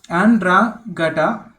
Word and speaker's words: Ndrangheta: As far as investigators knew, Ndrangheta, pronounced Andrangheta, okay, the Calabrian version of Cosa Nostra, ranking in the last 20 years as the most powerful Italian crime syndicate.